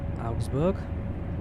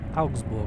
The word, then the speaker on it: Augsburg: go now to uh augustburg how does that pronounce augsburg ausbook augsburg i think it's the uh correct way to pronounce it uh did salzburg have